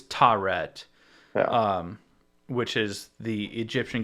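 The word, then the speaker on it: Taweret: what i could gather it's tauret but it's there's extra vowels in there but um yeah she's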